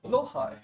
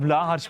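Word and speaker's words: Blåhaj: That is the Swedish pronunciation? It is. Blohai. Okay. Blohai. But we call it Blahaj because it's funnier. Because I didn't know how to pronounce it correctly. No, it's Blohai, but Blahaj is just so much funnier.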